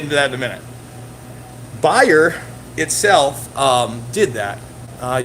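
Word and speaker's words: Bayer: we don't talk about bear which is not or buyer is the way you say it right buyer is not a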